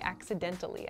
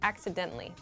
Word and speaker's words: accidentally: deleted my portfolio and with this pronunciation I'm saying it really clearly accidentally accidentally but in fast speech we say accidentally accidentally I accidentally deleted